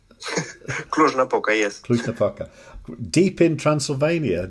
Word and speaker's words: Cluj-Napoca: How do you pronounce it? Cluj-Napoca. Cluj-Napoca, yes.